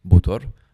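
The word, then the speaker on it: bátar: Et pourquoi un drakkar Alors déjà, bâtard, ça veut dire bateau, ça se prononce botor en islandais, ça veut dire bateau.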